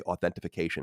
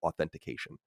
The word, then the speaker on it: authentication: Yet we, the audience, have to wince in pain every time we hear you say authentification instead of authentication.